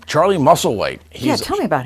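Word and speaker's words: Musselwhite: how do you say his last name Charlie muscle white he's yeah tell me about him he's a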